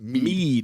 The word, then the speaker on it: Mid: I guess it's uh Mid who tells him or as they pronounce it me uh which fine uh